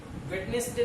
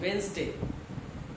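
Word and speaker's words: Wednesday: एश वेडनेसडे, वेडनेसडे नहीं पढ़ेंगे, वेडनेसडे नहीं पढ़ा जाता है, सही उच्चारण वेडनेसडे।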